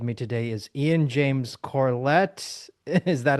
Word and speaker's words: Corlett: As always, with me today is Ian James Corlett. Is that how you pronounce your last name? Is it Uh, Corlett or Corlett? Corlett, Okay. but I'll accept both.